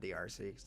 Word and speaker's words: D'Arcy: say check there cuz everyone calls me Darcy but like like it legal he is like my name is DRC that's how you pronounce it but I'm never listening